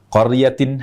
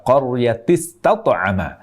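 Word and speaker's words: قَرْيَةٍ: juga seringki salah baca qoryatin harusnya bertanwin tapi ternyata terbaca tanpa tanwin jadi dibaca qtiama Ini menghilangkan tanwin yang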